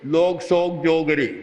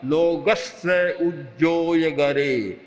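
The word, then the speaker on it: लोगस्स उज्जोयगरे: उच्चारण क्या करते थे, लोगस का उच्चारण करते थे, लोग सोग जोगरे, बस ये उच्चारण था बंधा हुआ, लोग सोग जोगरे। ये एक का नहीं था, हजारों का ये उच्चारण था। आज कोई छोटा बच्चा भी बोलेगा लोगस्य उज्जोय गरे धम्म तिष्ठ यरे जिने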